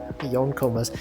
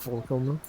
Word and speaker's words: yonkoma: You know, okay, for people usually, I always see people pronounce this as Forcoma, and I'm just like, every time I'm just like, that's not how it works. Yonkoma, you know, 4. It's not Forcoma.